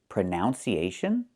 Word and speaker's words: pronunciation: The word is pronounced pronunciation. We see the letter U there between the ends. Right? That's a short uh sound like cup and up. Prenun. Prenun. So the two first vowels are the same sound.